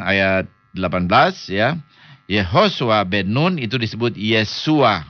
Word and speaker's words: Yehoshua: He Shin Waw Ayin, itu harus dibaca Yehoshua, nggak boleh dibaca Yahshua, tidak boleh. Karena kalau saudara baca Yod He Shin Waw Ayin sebagai Yahshua, itu saudara merusak bahasa orang lain. Ya, nggak ada di dalam bahasa Ibrani perkataan Yahshua, nggak ada.